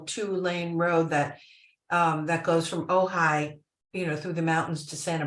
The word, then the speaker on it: Ojai: But there was one point we were, there's a road here from Ojai. It's pronounced Ojai, by the way.